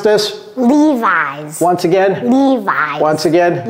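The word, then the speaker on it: Levi's: spe specific Mo Cody can you help us pronounce this Levis once again Lis once again Levis wow It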